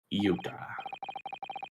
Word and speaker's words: iota: Iota. Let me actually see how to pronounce that.